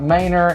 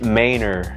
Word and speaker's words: Manor: talking about Mainer and how many people do you give that mispronounced that the first time yeah quite a few actually yeah you know it's Mainer I mean it looks better it looks like Manor but it is Mainer so you got to get that pronunciation right so y'all make sure